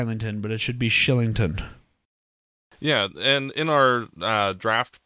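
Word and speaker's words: Kylington: about how to pronounce his name in Swedish of the letter K followed by a vowel means it's Schilling or SH sound so that's shillington instead of Chi Langton it looks like I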